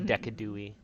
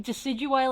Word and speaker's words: Decidueye: Like I love Decadui. Yeah, but like Decidueye, like Deadeye and Deciduous is like, mwah, it's perfect.